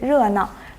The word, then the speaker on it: 热闹: 哎，對，熱鬧，它的讀音是熱鬧。